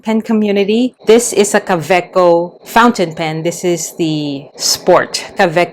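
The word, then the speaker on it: Kaweco: It's not caveo, it's caveco.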